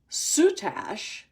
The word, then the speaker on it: soutache: And okay, so there's several ways people pronounce this style of work. Soutache or soutache.